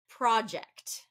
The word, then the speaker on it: project: so one number one project project okay if you said first syllable you'd be correct project that's the way I said it now if I said project that would be second syllable stress and that's considered a